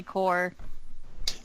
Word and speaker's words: Corps: Is it Corpse or Core? I've heard 2 different pronunciations. It's Core. If somebody is saying Corpse, they're saying it wrong. It's definitely Core. Okay, no. Well, it says Corpse. The official title of the film is Corpse. Yeah. CORPS is pronounced Core. Yeah. Like Marine Corps.